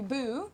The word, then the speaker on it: Bo: How do they spell it? They do Po. They do Boo with 2 O's.